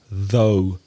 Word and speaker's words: though: of the spelling and the pronunciation is very strange th Oh ugh and the pronunciation though the same vowel sound as go or throw or no and those words can